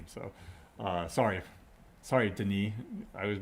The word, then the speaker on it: Denis: wrong this entire time it's the knee not dennis so i only read ever read his name so uh sorry sorry denis i was mispronouncing your